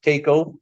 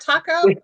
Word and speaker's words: Taco: East so that's our parent company and it's pronounced Takeo come on not Taco it is Taco Tuesday when I first saw